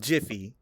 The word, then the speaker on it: GIF: It's called Jify, right? So that's that's so it'll so this joke only makes sense if you pronounce it the correct way which is JIF.